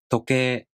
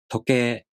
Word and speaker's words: 時計: 時計. 時計.